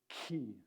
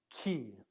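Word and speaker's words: χι: it is a uh it's basically like a Kappa that has a h an aspirated H so it's an oh you're getting that breath sound so this is key key you can either say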